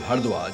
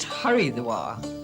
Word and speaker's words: Haridwar: well as those of hardwar just 24 kilometers away soon becomes a voyage of architectural discovery many of these were old mansions built in a more spacious age should really be pronounced haridwar the door of Harry